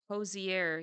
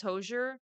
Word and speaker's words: Hozier: I want to see Hosier yeah I thought it was hoser um and then I watched the video and found out that it wasn't I like oops oops